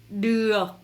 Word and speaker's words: được: Après, le O avec petit crochet se prononce A. A. Et le C ici, il est un petit peu muet, ce qui donne de la prononciation được. Được. Vous faites comme ça de la mâchoire.